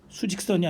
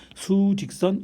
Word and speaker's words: 수직선: 항상 그랬듯이 항상 개념의 출발은 바로 수직선이 아니고 수직선이라고 읽어야 돼요. 수직선 1차원 공간에서 그 성질을 찾을 것이고요.